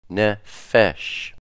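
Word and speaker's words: נפש: Nun, ne, pe, fe, sheen, sh, ne, fesh. As I've said before, when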